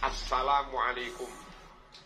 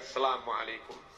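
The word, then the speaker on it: السلام عليكم: Asalamualaikum warahmatullah Asalamualaikum warahmatullah as itu ada Al ketemu Sin bacanya harus Asalamualaikum warahmatullah Asalamualaikum warahmatullah beberapa Imam terlalu santai bacanya inak Majid Asalamualaikum warahmatullah salam selam Halo baca dengan sesorih-sarihnya baca dengan sejelas-jelasnya jangan ada huruf yang hilang termasuk Al ketemu Sin as Assalamualaikum bukan sekedar Salamualaikum paham ya Asalamualaikum Aduh paham ng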